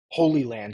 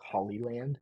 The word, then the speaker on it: Holyland: Claymore H land holyland I don't know why I keep saying hly land I just it's Holy Land I I say it like as if I said it in videos before but to myself I always say hollyland I don't know why